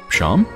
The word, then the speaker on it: Seam: tell me about yourself names seem pronounced Sean ohh Sean okay Sean